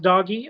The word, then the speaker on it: Doge: It was pronounced doggy among millions of people back 101 15 years ago, how whenever it originated.